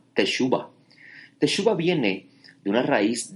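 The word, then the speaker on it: תשובה: Lo que usted conoce como arrepentimiento es una palabra hebrea que se se pronuncia en en hebreo se se llama teshuba.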